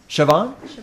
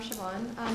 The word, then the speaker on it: Siobhan: chance to check with the student how to pronounce the name Sylvain. Yes. I'm sorry, Siobhan? Siobhan, yeah. Siobhan. Hi, so I'm Siobhan.